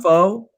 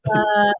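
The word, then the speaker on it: phở: Restaurant, and so is that that's pronounced pho? Not pho?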